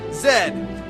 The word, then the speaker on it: Z: SFO is still not a band, and it's pronounced Zed, not Z, Zed.